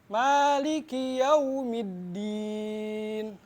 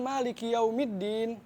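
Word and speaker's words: مَالِكِ يَوْمِ الدِّينِ: Nah, dalam bacaan Maliki Yaumiddin, biasanya wawnya itu masih banyak yang salah. Kalau kita baca waw, itu mulutnya dibulatkan. Banyak orang yang mulutnya kayak biasa aja tuh, Maliki Yaumiddin gitu. Nah, kita tuh jangan malu dalam membulatkan mulut, membulatkan bibir ya.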